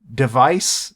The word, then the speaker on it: DEV_IS: And also like a week ago, they announced a new branch called Device, but it's spelled DEV_IS, because again, Yaga does not know how English works.